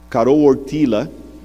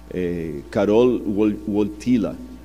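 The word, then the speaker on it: Karol Wojtyła: E o Carol Ortila, esses dias eu pedi a alguém que fala polonês para me corrigir a pronúncia, Carol Ortila, que era o nome do Papa, ele sofreu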